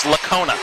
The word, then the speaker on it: Lacona: And he coached him in youth league soccer, so it is Lacona. I got that pronunciation yesterday.